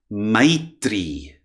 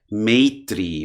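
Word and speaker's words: मैत्री: In the southern part of India, one tends to pronounce it more as I. So, for instance, Maitri, Maitri.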